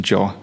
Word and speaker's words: yo: So, we we learned the pronunciation Joe instead of y'all.